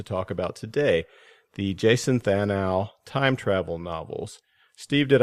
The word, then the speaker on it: Thanou: we want to talk about today, the Jason Thanou Time Travel novels. Steve, did I say Jason's last name right, and did I leave anything out of that huge list? Yeah, his name is pronounced Thanou, his last name, and I think you covered